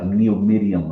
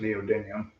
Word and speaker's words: neodymium: I think it's pronounced neodymium.